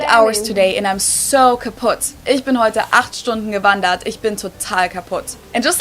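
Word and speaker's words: kaputt: We spell it with two T's in Germany, but we pronounce it the same way. Kaput.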